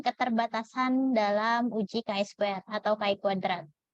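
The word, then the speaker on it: chi kuadrat: Dalam uji KSP atau Kai kuadrat jadi sebutnya jangan Square ya Ini bukan Chinese atau istilah apa Tapi bacanya nah pada uji KS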